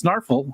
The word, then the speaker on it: Snarffle: So it's just the word snarf or barf, but it's snarffle or barffle. Souffle would be, so snarffle, barffle.